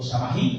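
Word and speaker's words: Samhain: precisamente a a a samaín o sahí como se le pronunciaba y era precisamente el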